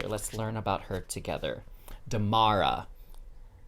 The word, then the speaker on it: Damara: Damara. That's how you pronounce it, Damara.